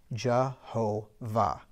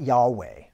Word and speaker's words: Jehovah: between each one and typically with a four letter word it's going to be a three syllable word okay so that's why the name is Jehovah right so if you